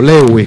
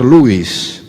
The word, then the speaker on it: Lewis: terminar dice cs lewis o lewis como pronunciamos aquí pero en realidad habría que pronunciar louis si dios está satisfecho